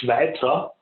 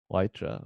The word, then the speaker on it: Weitra: Now, how do you pronounce that, Philip? It's Weitra. Weitra, okay.